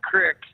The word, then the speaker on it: creek: I just was listening, and I wanted to clarify that maybe people call it crick because we're more of a Czech heritage, and that's how we pronounce things.